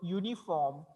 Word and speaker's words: uniform: त्याची सुरुवात युनी होते but pronunciation it will be uniform.